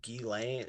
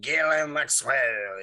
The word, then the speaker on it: Ghislaine Maxwell: It's pronounced Ghislaine Maxwell. It's a French name, and that's how you pronounce it.